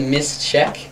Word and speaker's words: Mischiek: A lot of people don't pronounce that the right way, but it's a Mischiek, like a check, like a little check mark.